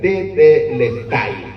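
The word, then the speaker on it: τετέλεσται: La palabra consumado en su original en griego es como está escrita ahí, que me cuesta pronunciarla, es tetelestai.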